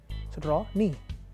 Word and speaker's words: Rony: So how did I tell him? Raw Knee He goes, "Ohhh!" But people mispronounce it till today. They call me Rock Nee!